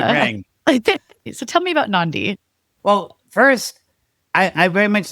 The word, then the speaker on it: NonDē: Well, it's supposed to be like a play on indie a little bit, right? But I guess I'm saying non-dependent. It doesn't quite have the ring. So tell me about NonDē.